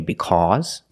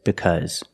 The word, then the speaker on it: because: heavy New York accent you might hear Americans say because but that's only New York the rest of America says because this is the normal pronunciation of the word because make the relaxed close sound